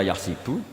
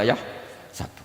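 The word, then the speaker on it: يَحْسَبُ: Karena dalam qiraah sab'ah ada yang baca yahsibu, qiraah kita baca yahsabu.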